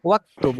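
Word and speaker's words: واكتب: এখানে হচ্ছে ওয়াক্তুব, ওয়া যেহেতু আসছে হামজাটা কি হয়ে গেছে, আর উচ্চারণ হইল না, ওয়াক্তুব।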